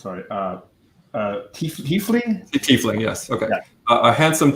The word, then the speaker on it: tiefling: sorry just god I can't pronounce on the pronounces sorry chiefly tiefling yes okay I had some tea fling and